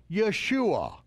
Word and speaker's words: Yeshua: Greeks, the English, or by those who mispronounce the letter J. Heaven sent a messenger to earth with the divine instruction to call him Yeshua.